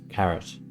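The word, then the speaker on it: caret: for calculations unexpected argument pronounced like the veggie carrot carrot okay why doesn't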